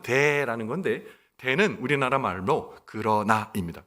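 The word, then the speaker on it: δέ: 헬라어 원문이 하나 생략되어 있는데 그 원문의 그 발음은 돼라는 건데 되는 우리나라 말로 그러나입니다 그러나가 빠져 있어요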